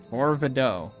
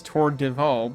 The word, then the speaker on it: Torvido: Torvido. Okay. I immediately assumed it was Tordivo because de is a very common syllable.